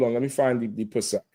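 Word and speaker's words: פסח: That's an H. It's Pesach. Pesach. That's what he's saying, Pesach? Pesach. With no K. What is it? Pesach. It's not the K.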